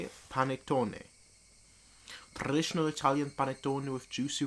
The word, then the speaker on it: panettone: I have to move the panelotte. Is that how you say it? Panettone.